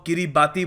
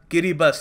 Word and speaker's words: Kiribati: जी हाँ, यहाँ पे आपको ये प्रोनाउंस करने में लग रहा होगा कि यहाँ पे टी आई लिखा हुआ है, तो हम इसको किरीबाती बोलेंगे, मगर जो ये जो टी आई है यहाँ पर, इनकी भाषा में, इस देश की भाषा में इसको एस प्रोनाउंस करते हैं, तो ये बन गया किरीबस।